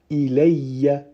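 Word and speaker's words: إِلَيَّ: Du coup, on comprend bien qu'il faut prononcer le mot tel que ilayya, ilayya.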